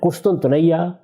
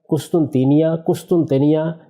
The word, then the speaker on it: قسطنطینیہ: گا۔ قسطنطینیہ یعنی استنبول۔ قسطنطنیہ، قسطنطینیہ، یہ اس کے مختلف تلفظ ہیں جو ہمارے ہاں رائج ہے تلفظ۔ یہ استنبول ہے،